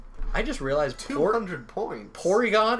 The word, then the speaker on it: Porygon: just realized 400 points Porygon is just the Japanese way of pronouncing polygon instead of party gone because I can't say